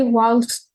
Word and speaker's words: walks: So She walks. Say that again, miss. She walks. Finish the sentence. To school. She walks to school. Okay. In this case, remember the pronunciation. We don't pronounce the L.